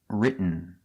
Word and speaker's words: written: a book very good the pronunciation of written you go to a stop T RIT but you don't make the T you stop RIT and then you fall to an N RIT written this is the same pronunciation at the end of eaten eaten written let's practice